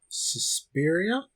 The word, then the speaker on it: Suspiria: Suspiria?